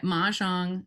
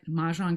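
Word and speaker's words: Mahjongg: And they named it Mahjong, which you can see at the top, with the double G to emphasize its difference, right? The double G doesn't do anything in terms of how it's pronounced.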